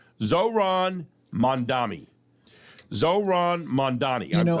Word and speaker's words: Mamdani: I always thought it was Mamdani. It's Mamdani.